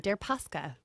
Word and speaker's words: Deripaska: Deripaska. Yours has a pronunciation, Deripaska.